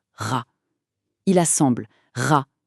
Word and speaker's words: Ra: Il sait que soleil se prononce ra.